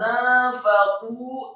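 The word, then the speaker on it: نَفَقُوا: Kata nafaqu, nunnya fathah dua harokat, kemudian fa-nya fathah satu harokat, kemudian qafnya marfu atau dhamma dua harokat karena setelahnya ada wawu sukun.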